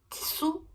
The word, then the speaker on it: tsu: É ta, ti, tsu, tetô. Não tem tu. Não tem a sílaba tu. É tsu.